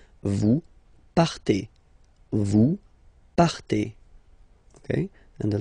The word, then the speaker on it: partez: Then for vous, classic ending for vous as well, EZ, but then you pronounce it et. Vous partez.